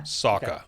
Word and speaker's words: Sawka: Sawka.